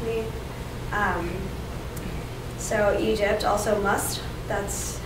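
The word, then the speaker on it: مصر: you should ask me um so egypt also must that's how you what you call it and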